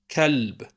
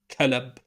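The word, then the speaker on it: كلب: Note how lam is pronounced l. Kalb, not kalab or kalub or kalib. Kalb, l, l.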